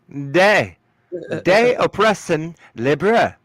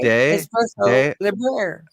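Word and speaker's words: De oppresso liber: De espresso libre. Not espresso. Oppression. De Oppression.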